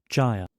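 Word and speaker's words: gyre: तो stanza one turning and turning in the widening widening जायर जायर इट्स नॉट ग इट्स ज यहां पे अ जी का साउंड ग नहीं आएगा ज आएगा तो जायर मीनिंग एवरीथिंग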